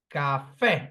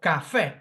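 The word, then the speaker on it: café: finish in a vowel Cafe do you see the vowel oxyon it's stressed on the last syllable it finishes um in a vowel Cafe so I must write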